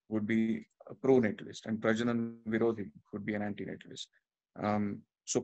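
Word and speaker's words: प्रजनन विरोधी: So it is pronounced as Prajanan Virodhi.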